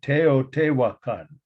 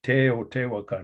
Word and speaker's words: Teotihuacan: Teotihuacan. I think I pronounced it pretty accurately in Espanol, of course, but the word it predates Spanish.